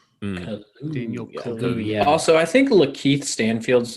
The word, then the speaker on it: Kaluuya: It's Kaluuya. So the two U's are pronounced with a U. Daniel Kaluuya.